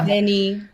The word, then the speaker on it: veni: And and V is fricative and not a semi-vowel. Right. Yeah, it's right. V, the instead of wa. Veni, vidi. Vini, vidi, vici, or is it weenie, weenie, vici? Right, yeah, exactly. Depending on who you ask.